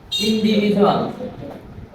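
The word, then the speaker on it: individual: ইন্ডিভিজুয়াল। ইন্ডিভিজুয়াল। যখন আমরা কি দেখবো? ডি এর পরে ইউ। ডি এর পরে যখন ইউ থাকবে তখন ডি এর উচ্চারণটা কি হয়ে যাবে? জ হয়ে যাবে।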